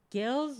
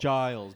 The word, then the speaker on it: Giles: Godso? Gills or Giles? Giles.